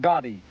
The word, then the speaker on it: Gotti: He didn't even say it right. He didn't say Gaddy. He said John Gaddy. And I said, "Who the hell is John Gaddy? John Gotti, the daffodon.